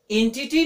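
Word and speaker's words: entity: एंटिटी नहीं, एंटिटी। क्या पढ़ेंगे, प्रोनाउंसिएशन का ध्यान रखें, एंटिटी।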